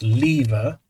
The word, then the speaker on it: lever: So I could have 2 levers, because I'm English and it's pronounced lever.